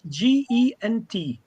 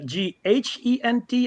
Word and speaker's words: Gent: is it actually spelled Gent or Ghent? It's in Belgian Yeah. language. It's Gent. Yeah, it is. Okay. Yeah, and Ghent.